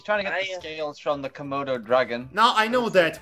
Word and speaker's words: Komodo: interrupts the Komodo dragons path you know say Komodo come out oh okay because you've been saying